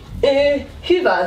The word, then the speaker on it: Hyvä: Hyvä. This is like a Hyvä. Like the U with dots. This is in Finnish the same like the U with dots. Okay. So it's hyvä.